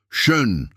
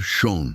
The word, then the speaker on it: schön: Schön, Dona Teresa, com som de shh, explica a moça. Para mim, sempre vai ser schon, menina, responde a costureira gargalhando.